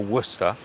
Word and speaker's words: Worcestershire: name Worcester sauce or Worcestershire sauce. It's generally pronounced to English people Worcester. Because like Gloucester, you don't say Gloucestershire, and Worcestershire, you don't say Worcestershire, you say Gloucester and Worcester.